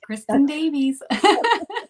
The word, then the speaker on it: Kristin Davies: Did I pronounce that correctly? Yeah, Kristin Davies.